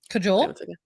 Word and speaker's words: Kajal: Cajole? Yeah, that's how you say it.